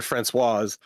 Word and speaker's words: Françoise: I don't know how the female pronunciation of that is. François. François. There you go. Francois and Françoise.